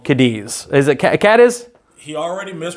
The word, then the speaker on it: Cadiz: probably none of you have heard of called Cadiz is it Cadiz he already pronounced the name of my town it is cat is alive its cat is all right here's our